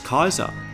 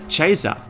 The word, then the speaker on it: Caesar: explained by Bob cook traditional Roman Latin pronounces Caesar as Kaiser but Latin began to